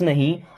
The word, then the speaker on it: know: I don't नो, I miss मैं, don't miss नहीं, नो अब यहाँ पे के साइलेंट होता है, ठीक है, जैसे नो पढ़ते हैं।